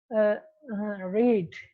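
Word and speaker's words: read: जो ए वाला है, रीड या रेड भी आप इसको प्रोनाउंस कर सकते हैं। सेकंड या फॉर्म थर्ड फॉर्म अगर हमने प्रोनाउंस करना हो तो वो रेड रेड होती है, फर्स्ट फॉर्म में इसको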